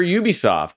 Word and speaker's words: Ubisoft: Assassin's Creed publisher Ubisoft, standing for Ubiquitous Software and therefore pronounced Ubisoft, has detailed a major